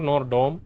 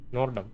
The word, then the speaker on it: Nordom: addressed Nom that's that it's not norom nor Dum is fine that's why how he pronounced his name just now nordom okay what's up let's